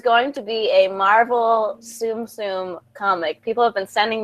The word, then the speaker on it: Tsum Tsum: But it rhymes with a bum bum. And it's something you collect. Or is it Tsum Tsum?